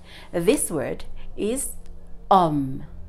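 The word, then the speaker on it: homme: silent it is not home it is not home remember that H is always silent so we're going to ignore it also in a previous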